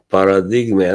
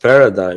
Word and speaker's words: Paradigma: And also, recently I did a review of product paradigm, and I was very like clear that Mhm, this is not pronounced paradigm. It is an Italian name. It's paradigma.